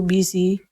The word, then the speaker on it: busy: Their lives were too busy. Busy. So use a Z sound. Their lives were too busy. Okay, so should be pronounced with a Z sound, not an S sound.